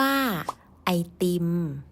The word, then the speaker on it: ไอติม: สุด ทั้ง เด็ก และ ผู้ ใหญ่ มัก จะ เรียก สั้น ๆ ว่า ไอติม เพราะ ออก เสียง ง่าย กว่า ค่ะ ใน ปัจจุบัน การ พูด